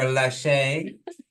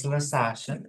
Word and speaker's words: LaSasha: And so I've been saying her name wrong all this time. I've been calling her Lachey, but her actual name is LaSasha.